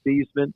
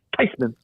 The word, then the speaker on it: Theismann: said um they want to change the pronun pronunciation of our name from thasan to tyman she says there I tell you this she says actually the correct pronunciation is tyman and what they wanted to do is closer